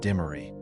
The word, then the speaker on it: Dimmery: Hey, that's how we pronounce the name down here. George Ash was the builder. The family's American patriarch was Captain Raymond Dimmery, a French hugenot who entered British service.